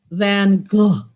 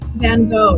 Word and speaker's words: Van Gogh: nobody ever corrected me that his name is pronounced Van Gogh.